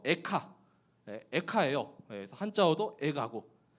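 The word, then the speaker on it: איכה: 이 발음도 에카, 에카예요.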